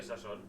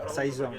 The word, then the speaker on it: Saison: Tu veus que es pronuncia Sasson? Sasson. Això- Saison.